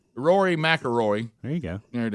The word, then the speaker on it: McIlroy: McIlroy. Rory McIlroy. There you go. There it is. So it's Roy and then Roy again at the end of his name. McIlroy. Roy McIlroy. Rory. Rory McIlroy.